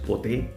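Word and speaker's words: ποτέ: However, if the enclitic has two syllables, like the word pote, then it will appear in the dictionary as an oxytone. That means as having an acute accent on the last syllable.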